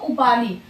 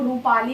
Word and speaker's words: उपाली: कहीं कहीं उच्चारण में आप लोगों को रूपाली भी दिखने के लिए मिलेगा। ठीक है, रूपाली तो आप लोगों को कहीं से डरना नहीं है। रूपाली या उपाली कुछ भी होगा तो मार दीजिएगा। कई कई उच्चारण के रूप में रूपाली भी रहता है, तो ठीक है, तो कोई दिक्कत नहीं, उपाली या रूपाली दोनों हो सकता है।